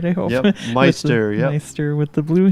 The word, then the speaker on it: Meister: Wow, that's Tony Meister with, am I pronouncing your last name right, I hope? Yep, Meister, yep.